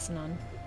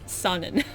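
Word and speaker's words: Sannan: They never told Itto the truth about Sanon. Oh my gosh. You have me pronouncing it incorrectly now. It's Sanin. Sonnen. There we go.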